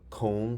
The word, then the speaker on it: comb: looking at MB and MB says hmm as in comb silent B also KN says mm